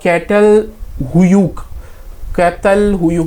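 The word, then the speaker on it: Çatalhöyük: वन ऑफ the most famous Neolithic site है कैटल हुयूक, जो भी इसका प्रोनाउंसिएशन है.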